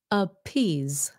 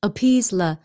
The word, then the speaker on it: appease: like a z choose choose okay that e is silent at the end ends in s e please please appease a peas appease appease okay so that's rule number two in